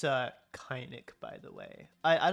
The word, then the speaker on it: Kainik: It's Kynic because you know a people usually use the soft A.